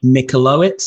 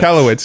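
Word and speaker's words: Michalowicz: to say his name but it's like Mike michowitz or something Mike malowitz yes yeah that's it there we go which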